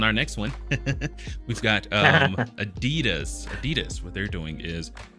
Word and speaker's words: Adidas: Europeans pronounce it the German way. Adidas.